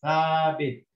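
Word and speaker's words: ثابت: Now this word starts with a sa and fatha and a alif, which means this is a long movement, so it's sa. And then you've got the ba with a kasra, which means tabi. And the ta over here has got no sign, so it's silent. So I read this as thabit, thabit, which means stable.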